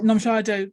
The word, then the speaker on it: Nomshado: from Nomshado, and I hope I've pronounced your name correctly there. I hope I've done okay. Yeah. Nomshado, was I all right there?